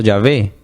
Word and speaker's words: Yahvé: Recuerden, como decía ahora, el tetragrama que usaron los judíos, que es la Y, la H, la V y la H, que posteriormente se le agregan las vocales para pronunciarlo Yahvé.